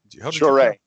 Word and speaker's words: Jouret: Jouret. Jouret, Jouret. Jouret, okay. Yes, I saw about a half a dozen different pronunciations for this when I was trying to look it up, so that's helpful.